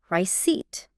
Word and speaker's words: receipt: The P is totally silent. Why is it even there? I feel like I would want to say receipt. It enjoys making things difficult, but yes, the pronunciation is rice.